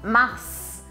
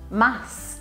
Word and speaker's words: mars: que é uma homenagem ao deus Marte, né, ao deus da guerra, em latim, a gente vai pronunciar este S aqui. Então eu não posso falar mar, mas eu tenho que falar mars, mars, com esse S, não esqueça disso.